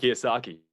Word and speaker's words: Kiyosaki: Robert Kiyosaki.